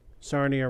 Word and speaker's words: Sarnia: also did you know sarnia rhymes with narnia yeah and you have